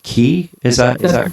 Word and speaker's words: Cay: like I was like is it like clay or is it cay? Just because of the spelling. It's c a y, right? Right. And you had earlier alluded to the fact that um in over there they call it key.